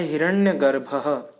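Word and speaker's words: हिरण्यगर्भः: पीछे जो दो बिंदु लगाया गया है इसको अ जैसे सांस छोड़ते समय हम कहते हैं ना उस तरह से इसका उच्चारण होता है तो ये हो जाता है हिरण्य गर्भहः उसके बाद है स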